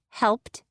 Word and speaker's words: helped: Words like helped and changed have clusters of three consonant sounds since the e is silent. When you encounter a cluster of three sounds, slow down and try to pronounce each sound.